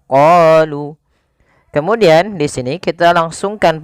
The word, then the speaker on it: قالوا: Pada lafal bacaan qalu da'u lana, kita memanjangkan huruf qa sepanjang 2 harakat karena pada lafal qa ini ada bacaan mad tabi'i. Kita lihat di sini adanya huruf qaf. Pada huruf qaf ada harokat fathah bertemu dengan alif. Maka ketika dia ada fathah bertemu alif, maka kita namakan dengan mad tabi'i. Panjangnya berapa harokat? Panjangnya adalah 2 harokat. Maka qalu.